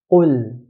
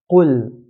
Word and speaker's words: قل: Qaf is considered to be from the 7 heavy letters in the Arabic language. So Arabs will pronounce qaf in a heavy manner. قل. قل.